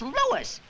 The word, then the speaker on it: Louis: Everybody interpolates me name wrong. It's Lewis.